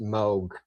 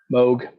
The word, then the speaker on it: Moog: Um uh Robert Moog, it is pronounced Moog like Vogue. Moog.